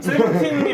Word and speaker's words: 17: 저는 세븐틴이 맞다고 보거든요. 네, 왜냐하면은 그냥 영어 발음이니까.